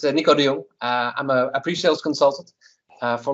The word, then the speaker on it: Nico de Jong: With me today, I've got Nico de Jong from LiveTiles. Yes. And Nico, tell us a little bit about yourself. Well, not badly pronounced, Dan. It's Nico de Jong.